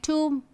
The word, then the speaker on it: tomb: by M, okay, like tomb, womb. So, whenever you find B is at the end of a word and just after the letter M, B is silent.